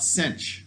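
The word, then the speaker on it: sinh: that cena or something so people just decide to call it cinch like it's a ch even though it's only an h this is cosh of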